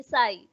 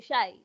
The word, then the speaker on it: shy: to say silence but when you're saying shy don't say sai you say shy so you just have